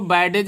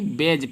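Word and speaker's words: badge: तो इसको बैडेज नहीं पढ़ते हैं बल्कि बेज पढ़ते हैं, बेज।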